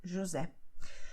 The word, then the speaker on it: José: That the letter S is between vowels, okay? So it sounds like Z, José.